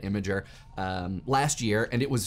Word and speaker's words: Imgur: So I went to Camp Imager, so I say it imager, last year, and it was super fun.